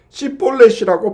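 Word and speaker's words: שִׁבֹּלֶת: 그래서 나의 것을 나오거든 이와 같이 에브라임 사람들도 구움을 바로 하지 못해서 10볼넷을 10볼넷이라고 발음하였는데 시폴레쉬라고 발음을 하면 가차없이 죽였습니다 이렇게 해서 에브라임 지파 사람들을 42,000명이나 죽였던 것이죠 여러분 에브라임 사람들이 요단 강가에서 10볼넷이라는 발음을 씹 볼넷이라고 해서 죽임을 당한이 사건은 우리에게 깊은 영적 교훈을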